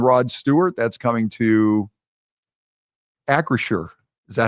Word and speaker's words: Acrisure: That's coming to Acrisure. Is that how you say it? Yeah. Acrisure.